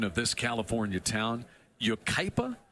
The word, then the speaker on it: Yucaipa: Halamacek hails from, I'm going to have to get your help on the pronunciation of this California town, Yucaipa? Yucaipa, yeah.